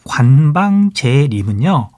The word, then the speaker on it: 관방제림: 그 다음에 나는 떡갈비, 그 다음에 관방제림은요. 관방제림이라고 읽어야 돼요.